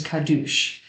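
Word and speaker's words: קדוש: gravity and radio waves the old ashkenazi pronunciation of the hebrew word for holy is kadush if you repeat this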